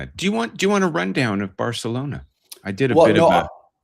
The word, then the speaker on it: Barcelona: I think both of them recently pronounced it Barcelona. So, I think that's let us off the hook of saying it with this weird th thing that came from uh the king with the lisp.